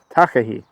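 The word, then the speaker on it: takahē: M that you were just taking photos of takah takah so we've just seen the takah there's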